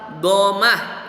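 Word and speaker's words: ضمة: Nah, selanjutnya sekarang tanda baca atau tanda harokat domah ya. Tulisannya damah, dibacanya domah.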